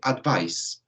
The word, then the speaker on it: advice: Por otro lado, ¿cierto?, the pronunciation para advise, ¿cierto?, como sustantivo, es simplemente con S, advice, ¿cierto? Advice, donde no hay una vibración en la pronunciación, ¿ok?